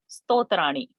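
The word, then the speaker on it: स्तोत्र: Sannyasi is making Lord happy with stotrani. Stotraihi. Correct. Sto, not stro. It is sto. Pronunciation is sto. Pronunciation is not stro.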